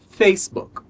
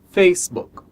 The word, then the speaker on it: Facebook: disso é essa palavra aqui essa palavra a pronúncia correta é facebook facebook então essa palavra é a junção de duas